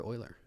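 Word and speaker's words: Euler: div one by Stanford Oiler I think it's pronounced uler isn't it I'm just kidding um yeah so Berkeley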